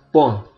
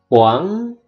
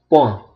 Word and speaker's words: point: Jadi dibacanya point. Sengaunya sengau Prancis, bukan poang, tapi point.